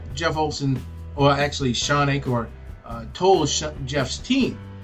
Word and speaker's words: Achor: up, a psychologist named Shawn, how do you pronounce that? Achor? Achor.